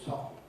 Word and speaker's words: soften: I've learned a t don't say soft say soft.